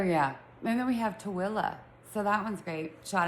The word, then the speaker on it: Tooele: But um what's funny about Tooele Excuse me, Tooele, is that it's actually spelled Tooele. So it's spelled T O O E L E. But Utahns say it Tooele. T A W I L A.